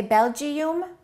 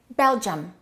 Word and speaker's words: Belgium: Do we say Belgium or do we say Belgium? So the I and the U sound exactly the same as the E in Sweden.